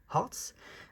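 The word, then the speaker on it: H'Arts: le Tarot of Hearts, on prononce bien le H-A, Hearts, de Isabelle Hayes.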